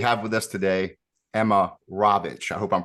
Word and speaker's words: Rawicz: Okay, so we have with us today Emma Rawicz. I hope I'm pronouncing your name correctly because I think some people pronounce it Rawicz, but it's Rawicz, correct?